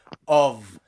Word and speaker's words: of: off of off okay remember the only word in english where you pronounce the letter f as a v is in the word of of okay okay let's have